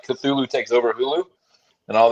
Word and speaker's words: Cthulhu: thinking too because yeah it's not katulu no no it's Cthulhu yeah yeah it's Cthulhu which kind of feels